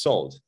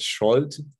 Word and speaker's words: Szold: the last name is so as if it was written with an s in Hungarian s and Z together are to be pronounced as s and very often I